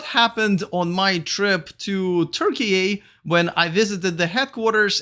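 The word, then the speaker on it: Türkiye: electric first things first you probably heard me say turkey a not turkey twice now and that is how we supposed to pronounce the name of that country starting this year so you're welcome now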